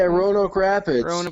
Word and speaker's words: Roanoke Rapids: youtube or something that was in uh rapids royal oak rapids is am i pronouncing it correctly yeah roanoke rapids rapids that was a great match like yeah